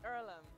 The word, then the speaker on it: Earlham: can do is it heirloom is it pronounced earlham it's earlham and it's a place for